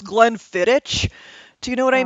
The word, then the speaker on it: Glenfiddich: where I was talking about the Glenfiddich, and this idiot is just like, it's pronounced Glenfiddich.